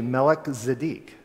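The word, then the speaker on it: Melchizedek: you put the two together and we just pronounce it as MC but it's actually melik zadik king of righteousness it'll be translated from Hebrew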